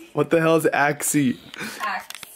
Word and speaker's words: Axe: you use what kind axie what the hell is axie Axe it's axe she said why she is axie I said babe it's axe the E is silent is the E silent